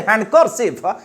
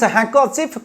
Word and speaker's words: handkerchief: word if you say hand cursive this is mispronounced this handkerchief costs 50 this handkerchief costs 50 rupes handkerchief de silent hand handkerchief not r r is also not pronounced handkerchief just you say